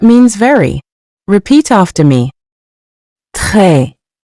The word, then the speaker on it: très: Très. Très. Après. Meaning after. Say it with me. Après. Après. You've probably noticed the final S in both words is silent. We don't pronounce it, but it's still there in writing.